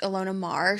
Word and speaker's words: Ilona Maher: years old where I believe her name is pronounced Ilona Maher.